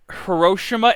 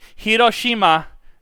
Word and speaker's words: Hiroshima: with in high school pronounce it Hiroshima and Nagasaki. I shit you fucking not, and I'm like. Nani? Nandato? What? Nani? Nani kore? It's Hiroshima, Nagasaki.